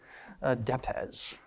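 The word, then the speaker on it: depesz: I asked the author how to pronounce that because I didn't know how to pronounce it. This is a Polish word, DEPES.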